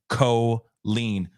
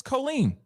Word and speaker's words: Colleen: Oh, apparently KC just says she does pronounce her name Colleen. Wow. Like codeine. Okay. Then it's Colleen.